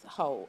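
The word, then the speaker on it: Heaux: boy and I got ho it is pronounced ho h e a u x so anyways this is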